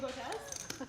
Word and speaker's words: Botez: Did you correct him on her actual pronunciation? What was it? Her last Oh, he name? wasn't saying Botez? He was saying Butez.